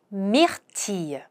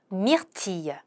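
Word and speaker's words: myrtille: 오디 블루베리 미티 자 블루베리는 발음이 조금 특이하죠. 미틸이라고 L 발음을 하는게 아니라 또 가짜 L입니다. 이으 발음으로 살짝 해 주셔서 미티 이렇게 발음을 해 주시는게 좋습니다.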